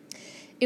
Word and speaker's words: ais: All three of those are pronounced et.